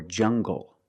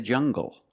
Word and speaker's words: jungle: Or jungle, tangle, and angle. These are pronounced with the hard g sound. Example, monkeys live in the jungle.